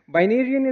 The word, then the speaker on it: Binarian: Now, a fun fact here for the Game of Thrones lovers, Binarian is actually supposed to rhyme with Targaryen.